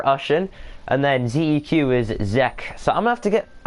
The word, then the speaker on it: ZEQ: And ZEQ says, name is pronounced Zek, by the way.